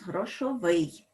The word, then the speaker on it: грошовий: нас пишеться F так Але у нас наголос грошовий тому напишемо суфікс О